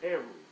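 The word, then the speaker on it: erhu: what it is H it is spelled e r h u and arrow yes an ar ar yes it is an AR it is a one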